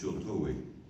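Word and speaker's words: Sheltowee: Pronounced Shiltoi, and Shawnee.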